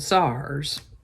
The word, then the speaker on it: tsar: and ruled by monarchs who were called sars it could be spelled t-s-a-r or c-z-a-r-sars basically it was an autocracy